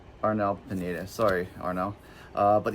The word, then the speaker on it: Arnel: I was saying his name wrong the whole time. I always call him Ariel. Arnell Pened.